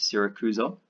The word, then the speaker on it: Syracuse: an important city called Sarah Cruz oh that's sy RAC us e pronounced Sarah Cruz oh and this city is